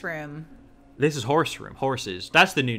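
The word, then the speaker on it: Horze: But now I want it to be horses. Because that's how I've always pronounced horses, the room. That was the pitch. The problem is it sounds like whores. It sounds like you're saying whores.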